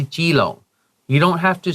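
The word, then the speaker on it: Keelung: You don't have to say kilong, say jilong.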